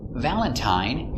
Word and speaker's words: Valentine: one of three sounds Valentine uses a long I the same as mine Valentine Valentine but sometimes it's pronounced